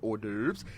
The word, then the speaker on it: hors d'oeuvres: It looks different, but hors d'oeuvres and networking.